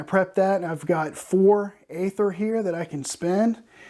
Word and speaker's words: aether: her ability up and by the way it's spelled AE th ER I know that's probably normally pronounced ether but the designer pronounces it aether and Aeons in so I'm gonna pronounce an aether because that's what he does so her abilities charged